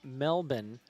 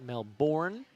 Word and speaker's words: Melbourne: all the way from Melbourne I learned it is not Melbourne that's the American pronunciation it is Melbourne Victoria Australia so again just